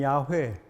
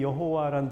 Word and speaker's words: 야훼: 궁극적 관심의 대상을 나타내는 용어인데 고대 이스라엘에서는 이게 히브리어입니다만 야훼, 약간 나중에 여호와란 발음으로 일상화되긴 했습니다만 야훼 또는 여호와라고 어떤 신에 대해서 이름을 그렇게 붙였어요.